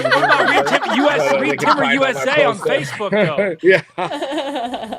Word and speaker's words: Reed Timmer: They can just find me as Reed Timmer on social media. Rhymes with weed trimmer, so it's easy. Reed Timmer USA on Facebook, though.